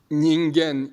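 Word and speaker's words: 人間: It is pronounced ningen in Japanese and ingan in Korean.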